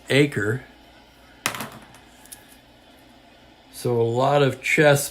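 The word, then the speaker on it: Aker: bring in Jack AER who I Mis correctly pronounced AER earlier in the series it's acre so a lot of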